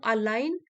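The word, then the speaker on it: align: हुए काम करता है, टू अलाइन, अलाइन ji silent है, टू अलाइन our reality with our inner convictions.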